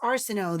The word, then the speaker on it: Arsenault: This is what this, like, that last name is Arsenault. It doesn't look like that, but that's what it's, pronounced.